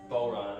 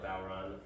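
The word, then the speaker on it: bodhrán: of drum from Ireland it's spelled b-o-d-h-r-a-n because that's Gaelic and they like putting silent consonants places so pronounced ball run or bowron what makes it unique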